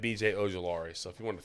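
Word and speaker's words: Ojulari: He went ahead and said BJ Ojolari. So if you want to throw it up there, he actually pronounced it right and everything. It was great. Yep. BJ. That's a good pick. Ojolari.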